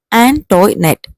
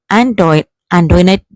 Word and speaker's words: Antoinette: Most of them pronounced it as Antoinette, but Kunichirda learned from Antoinette that the name ought to be pronounced Antoinette.